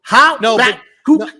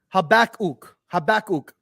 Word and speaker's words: Habakkuk: So ha back kook. No, it's Habakkuk. You're not saying the second. There's not, an ook. Yeah, you're not using the second K.